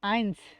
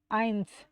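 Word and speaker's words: eins: তো প্রথমে হচ্ছে আইনস আইনস লাস্টে এস আছে এজন্য আমাদের কিন্তু একটু বাতাস মুখ থেকে বের করতে হবে লাস্টে উচ্চারণের সময় যেমন আইনস আইনস আইনস তার মানে কি আমার একটু লাস্টে একটু মুখ থেকে বাতাস বের হবে এরপর ছোয়াই ছোয়াই ছোয়াই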